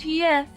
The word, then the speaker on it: Yeth: It's pronounced Yeth in phonetic script.